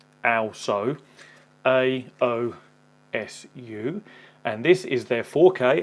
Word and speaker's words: aosu: Today I'm looking at, which I believe is pronounced aosu, aosu, and this is their